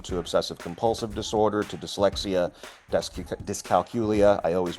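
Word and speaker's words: dyscalculia: It seems like you said Discalcula, but there's an I between the Yeah, calculia.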